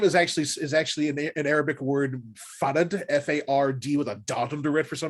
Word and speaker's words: Fard: predicate it by saying my name is spelled F-A-R-D, even though it is pronounced Far-ahd, because screw English. No, because my name is actually an Arabic word, Far-ahd, F-A-R-D, with a dot